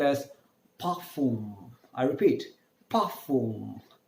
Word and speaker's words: parfum: is perfume, called as parfum. I repeat, parfum. R is pronounced as half the ha, half the ka.